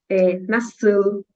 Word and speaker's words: nasıl: E outra coisa, gente, o L no idioma turco, ele é parecido como no espanhol, né? Ele é bem pronunciado, por exemplo, como, né? Nasıl. Não é como a gente no português, que o L para nós tem o som de U, né?